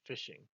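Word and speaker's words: phishing: network to get compromised this is called fishing not fishing for fish spelled like this with the p and h so basically fishing is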